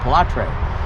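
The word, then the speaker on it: Pilâtre: His first name is Pilatre, that's how you say it, Pilatre.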